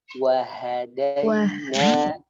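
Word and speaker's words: وَهَدَيْنَا: Ya, jangan waha. Waha. Wahadaina. Wahadaina.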